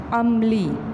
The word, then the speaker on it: عملی: عملی عملی, عین زبر میم ام, لام چھوٹی علی, عملی.